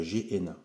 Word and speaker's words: Gehenna: C'est prononcé comme ça, Gehenna.